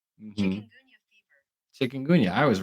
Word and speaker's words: Chikungunya: All right, here's the pronunciation. Mhm. Chikungunya.